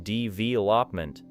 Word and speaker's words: development: Now take development, where the stress falls on the second syllable, creating development.